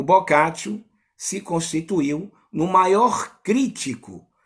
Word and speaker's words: Boccaccio: o em italiano no latim também o a pronúncia procure a mesma de no vernáculo italiano na no latim no clássico boccaccio giovanni boccaccio filho de comerciantes hoje nós iremos